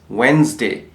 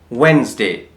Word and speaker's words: Wednesday: mic and you see Wednesday what it says Wednesday Wednesday finally we type on the other word campaign pronunciation so how it has been pronounced let's